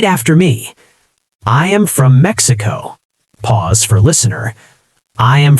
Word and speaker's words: Mexico: "I am from Mexico," she practiced again, focusing on the English pronunciation. "I'm from Mexico City."